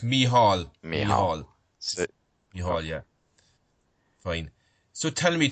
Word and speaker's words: Micheál: good afternoon T afternoon Michael great to be on your show yeah same to you and my name is is pronounced mihal yeah fine so tell